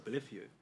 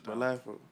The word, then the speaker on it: Bolitho: I thought it's Bolitho. Yeah. Everyone says that. No one ever knows how to pronounce my name. Oh, It's so Bolitho.